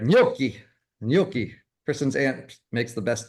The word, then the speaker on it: gnocchi: Yeah, and it's also not pronounced Ganuki. Ganuki. I love Ganuki with little sauce on it, right? I thought it was ganache. I always thought it was ganache. All right, gnocchi.